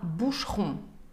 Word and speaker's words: Boucheron: Вот здесь как раз-таки буква «e» в середине читается бегло. Она как будто бы даже игнорируется. Например, как «boucheron». Не «boucheron», а «boucheron».